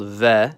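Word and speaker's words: В: It's called V. And like Spanish, it makes a V sound.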